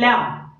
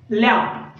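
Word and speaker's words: lamb: ठीक आहे, त्याच्यानंतर बघा की लॅम, लॅम आता लॅम मध्ये देखील बी हा साइलेंट लेटर आहे.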